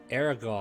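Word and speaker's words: Arrigal: Aragal Oh. is A-R-R-I-G-A-L. Can you not pronunciate today?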